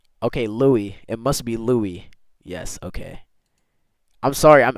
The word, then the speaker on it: Louis: The I'm gonna call him Lewis.